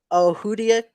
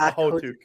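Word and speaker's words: Okhotyuk: Nikita Ohudiak. Oh, see, you fucked up that one. It's Ahotuk.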